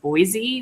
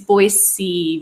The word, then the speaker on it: Boise: to learn but like we all grew up saying Boise with a z but when you move here everybody tells you right away it's not pronounced that way so don't pronounce it